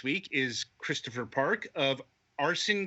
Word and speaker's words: Arcen: is Christopher Park of arson games am i pronouncing that right hard K Arkin okay I'm glad you